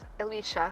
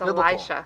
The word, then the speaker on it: Elisha: say his name yet his name is Elisha Matthew SP not Alicia yeah it's not Alicia it's Elisha why did we choose that